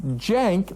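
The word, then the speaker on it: Cenk: It's jank like Jenkins. You like you.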